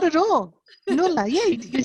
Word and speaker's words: Noula: We have Noula Diamantopoulos. You actually did not bad. It's actually Noula. Noula. I messed up your first name. This is terrible. So no, not at all. Noula.